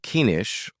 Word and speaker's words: niche: talking about something called niche building. It's either niche or niche, depending on how you say it.